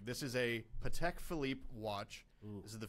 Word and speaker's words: Patek: world so how much do you think a patek philippe watch would cost so i like it's pronounced Patek I like to look watches I would have